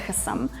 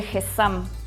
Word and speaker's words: hezzam: Bueno, se escribe es H e Z a m y creo que se pronuncia Gesam.